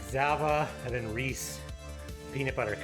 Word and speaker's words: Zava: My family, the side of the family that doesn't speak much English, pronounces the E as an A. Yeah, like Zava, yeah, exactly.